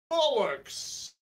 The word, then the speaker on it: Bollocks: Bollocks and who's Malarki? It's pronounced Bollock. It's 19th century French.